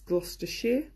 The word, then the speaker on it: Gloucestershire: week would know that you don't pronounce Shire it's Gloucestershire and basicly there's a